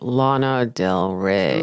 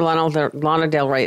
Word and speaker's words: Lana Del Rey: I think you have to say it like Lana Del Rey.